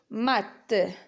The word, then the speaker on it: maths: Alors on a TH, c'est un T. Les maths.